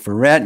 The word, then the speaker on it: Verrett: We're excited to have Mike Verrett. You say it like Corvette.